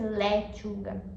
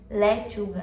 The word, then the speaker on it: lechuga: E aí de novo, eu vou não vou nunca pronunciar as vogais abertas, nunca vai ser letuga, lechuga, não, lechuga. Lechuga.